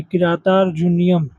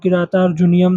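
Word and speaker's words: किरातार्जुनीयम्: अब यहां पे देखो बड़ा अजीब वो मतलब प्रोनाउंस करने में कितना कठिन है। किरातार्जुनियम मतलब कि इसको तेज से बोल सकते हो किरातार्जुनियम क्योंकि यहां पे संधि भी हो रही है एक जैसे किता प्लस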